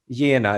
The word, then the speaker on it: Jena: Yeah, basically, it's Jena. It's German.